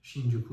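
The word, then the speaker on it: 新宿: هست شین کانسن و یه کلمه دیگه که تلفظش شینجوکو هستش ولی یه سری کلمات دیگه هستش که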